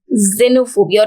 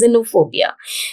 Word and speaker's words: xenophobia: is known as xenophobia though it is beginning with x it is termed as xenophobia or it is pronounced as xenophobia so foreigners or strangers